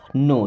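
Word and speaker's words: know: नो दोस्तों, इस word में के और डब्ल्यू साइलेंट है, इसे नो पढ़ते हैं।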